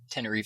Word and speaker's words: Tenerife: Tenerife Sea. I never know how to Sea. pronounce it. I always want to say tentacle, but I'm like, no, it's not And an octopus. it basically sounds like Tennessee.